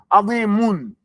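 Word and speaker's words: عظيمٌ: You can't say, Rabbun azimun, azimun, azimun. It's not going to come out. You say azimun. You have to bring your lips back.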